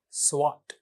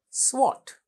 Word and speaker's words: SWOT: sense to you it's what how do you pronounce it swot swot swot analysis some say analyzes some say analysis